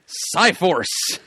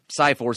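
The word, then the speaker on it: Psi-Force: well is that right well it's spelled PSI but yeah PSI haven't read it but I'm assuming it's CCI Force as in psionic Powers aha oh is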